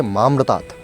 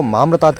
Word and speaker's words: मामृतात्: था वह उच्चारण उसका उसको उच्चारण करना चाहिए था ओम त्रंबकम यजामहे सुगंधिम पुष्टिवर्धनम उर्वारुकमिव बंधनात् मृत्योर्मुक्षीय माम्रतात् लेकिन वह मामृतात् की जगह मम्रतात का उच्चारण कर रहा था मम्रतात आप समझिए जो मैं